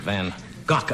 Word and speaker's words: van Gogh: buy a present for Vincent van gock I guess is the correct pronunciation if you want to use the dutch pronoun since Advanta who is